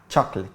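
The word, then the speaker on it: chocolate: ممكن تطقها كده انا مععرفش بس الصح بتاعها تشوكليت اجان تشك تشوكليت قول ورايا تشوكليت تشوكليت برافو الكلمه دي هتنطقها ايسلاند لا في كلمه اسمها ايسلاند بس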